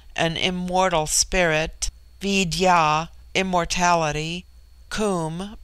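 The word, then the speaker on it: cwm: immortal Spirit Vidya immortality comb pronounced like the Welsh comb denotes something of hollowness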